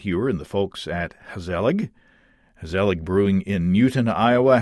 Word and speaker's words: Gezellig: And then when I got to reading about your brewery, Gezellig Brewing, and I assume I'm pronouncing that right.